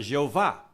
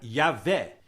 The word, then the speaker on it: Javé: onde surgiu a palavra Jeová mas é um é um erro porque o J é pronunciado como y e o ver se